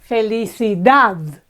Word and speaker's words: felicidad: longer one happiness is felicidad felicidad again it's the last syllable that's accentuated so we have consonants r l d at the end and it's this last syllable that is stronger than all the others okay Coral felicidad